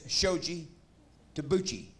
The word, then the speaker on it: Shoji Tabuchi: It's over behind that Shoshi Hula Pinchy Noochie's theater over there. You talking about my friend, Mr. Shoji Tabuchi? His name is Shoji Tabuchi. Learn to pronounce his name correctly if you're going to